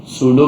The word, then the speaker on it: pseudo: सूडो classes नहीं पढ़ाई थी। पी साइलेंट है ना?